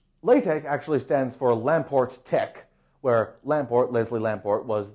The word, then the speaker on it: TeX: the word technology comes from that's why I'm pronouncing IT Tech and not Tech because this is Kai the actual uh purest